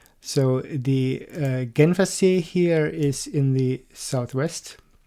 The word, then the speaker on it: Genfersee: So the first one, and the biggest one, is the Genfersee. It's Lake Geneva. In German it's Genfersee.